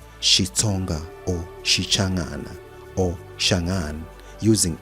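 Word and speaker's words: Xitsonga: The XI pronounced Shi is a Bantu grammatical prefix denoting language of.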